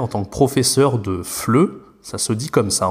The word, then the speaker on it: FLE: début, mais en fait, on va prononcer les 3 lettres ensemble, et donc ça se dit FLE.